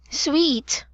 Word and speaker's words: suite: Also sweet is a place. It is like a place in hotel and we are talking about a suit not a suite.